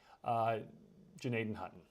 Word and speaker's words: Gnadenhutten: So I'm sure folks will have their opinions on how we should pronounce the G down there, whether or not you pronounce it or whether or not you don't.